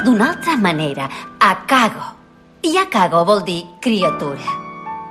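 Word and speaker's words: 赤子: Doncs bé, resulta que a Horai el caràcter de Seki es pronuncia d'una altra manera. Akago.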